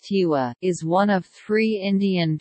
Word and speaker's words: Tigua: The Tigua, pronounced Tiwa, is one of three Indian tribes in Texas whose sovereignty is recognized by the United States government.